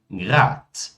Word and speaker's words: Grad: Palavras que terminam com um D, elas são pronunciadas como um T. Como, por exemplo, Grad, Bad, Kind, Wald, Land, Grund. Falem comigo mais uma vez. Grad, Bad, Kind, Wald, Land, Grund. Ou seja, não é grad, né? Nem Bad, nem Kind, nem Wald, mas sim Grad, Bad, Kind, Wald, Land e Grund.